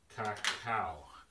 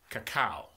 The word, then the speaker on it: cacao: It is pronounced as Cacao. Cacao. That's the correct pronunciation. Cacao.